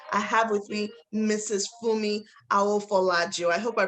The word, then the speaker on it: Funmi Aofolaju: it so graciously i have with me mrs fumi i will follow you i hope i pronounced your name right ma yes you do